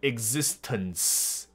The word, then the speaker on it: existence: do，我们做什么都让他们生气。They're upset about our existence，所以他这个字的发音我尤其也是很欣赏，尤其我特别会注意这个 n 的发音的部分。所以你这个 n 如果有贴一下天花板，然后再把最后的死念出来的话，就是念得很好。所以 existence，那这很容易会被忽略掉，所以你再听一下他的念法。